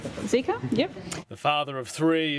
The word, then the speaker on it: Zika: Including the 2009 flu pandemic, Ebola, and do I pronounce it Zika? Zika, yep.